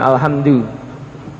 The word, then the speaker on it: Alhamdulillah: Jadi ini bagaimana alhamdulillah? Alhamdulillah. Makanya gimana? Kalau wakof menjadi alhamdulillah. Nah, jadi alhamdulillah, nggih.